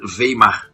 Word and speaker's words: Weimar: dúvida e ação de eu vou falar de acordo com a literalidade veimar né a fonética adequada literalidade Eu também Eu